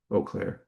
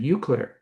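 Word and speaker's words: Eau Claire: We didn't know how to pronounce Oaklair. We pronounced it Uklair.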